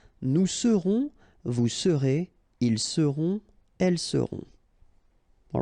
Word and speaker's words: seront: pronounced, then on, on, seront. Vous serez, a Z together at the end, et serez, all right? Ils seront, final T not pronounced, and then you've got this nasal, on, seront, elles seront.